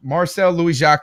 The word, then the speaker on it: Marcel Louis-Jacques: I was Marcel Louis-Jacques. I hope I pronounced your name correctly.